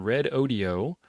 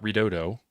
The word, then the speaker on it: Redodo: We're going to make the keyword red audio, which is how they tell me that you're supposed to pronounce that. It's not redodo.